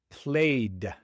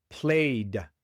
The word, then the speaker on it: played: Played. Played igual la e no se pronuncia y solo se pronuncia la d y esta vez se pronuncia como played.